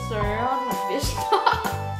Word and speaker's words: Søren Vester: there's a letter that is only in Danish, because we're from Denmark, so it's actually pronounced Søren Vester.